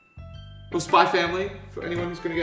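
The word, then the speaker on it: Spy × Family: Is Yuri secretly the high school version of Yor from Spy X Family? Or Spy Family, for anyone who's going to get upset at the fact I pronounce the X.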